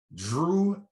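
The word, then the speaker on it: Jrue: And so, for those of you who hear Drew and think to yourselves, well, you know, but it's spelled different. Yeah, I know the J names. Think Drew Holiday.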